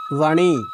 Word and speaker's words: বাণী: এখন আমি যদি মূর্ধন্যয়ের উচ্চারণ কথা, একটা শব্দের কথা বলি, তাহলে সেটা হচ্ছে বাণী।